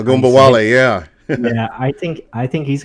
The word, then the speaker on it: Ogunbowale: And I think the real interesting story is Dare Uh, Ogunbowale is how you say it. Agumbawale, yeah.